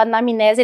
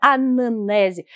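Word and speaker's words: anamnese: orientador doutorado ele fala eu falava anamnesia ele falava Zuleica Você está pronunciando errado é anane eu falava professor anane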